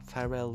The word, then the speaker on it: Pharrell: Par exemple, Pharrell Williams, c'est prononcé Pharrell. Enfin, Pharrell Williams. Enfin, au lieu de dire Pharrell, ils disent Pharrell. Un peu à l'anglaise. Enfin, en anglais tout simplement.